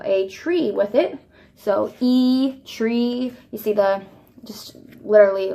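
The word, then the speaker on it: ㅣ: So the next one is, we would pronounce it as E. However, it looks more like the English I.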